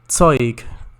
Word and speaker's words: Zeug: It's pronounced Zeug. Zeug. which means stuff.